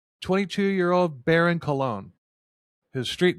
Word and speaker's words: Colon: And his last name, if pronounced correctly, Dirty Cologne. Filthy Dirty Cologne. I I went with dirty colon, but it's a good thing he's in prison.